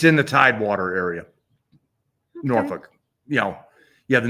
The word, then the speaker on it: Norfolk: It It's in the Tidewater area, Norfolk. You know, you have the Norfolk Naval Air Station and you got Norfolk Naval Station and then you have Little Creek. So, not Norfolk. Norfolk.